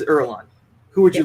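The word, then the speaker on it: Irulan: you say her name i think it's ireland that's how that's how the audiobook said it but apparently the audiobook was wrong yeah so princess erlang who would you like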